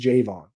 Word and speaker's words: Javon Baker: could be Javon Baker Jayvon Baker sorry still trying to correct my brain on that it is Jayvon that is that is official from the Patriots handbook Jayvon Baker jayin pulk